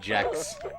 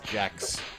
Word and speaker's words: Gex: The creator said he wanted it to be pronounced Jex. Yeah. I know he's a gecko, but that's too on the nose. His name is Jex.